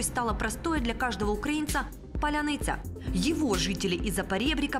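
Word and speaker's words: паляниця: для определения свой-чужой стала простой для каждого украинца поляница его жители из-за поребрика произносят трудом даже те кто обязан владеть отменной дикцией украинский звучит поляница а сумерками украинские бойцы переходят на украинский в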